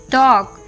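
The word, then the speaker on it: talk: ए ओ और यू मतलब जब भी ए ओ और यू के बाद आता है एल तब वो साइलेंट होता है for example W ए एल के वॉक टी ए एल के टॉक एच ए एल एफ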